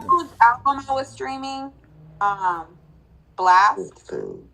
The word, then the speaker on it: Blxst: Blast.